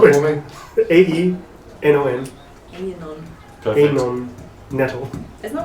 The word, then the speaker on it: Aenon: Spell it for me. AENON. Anon.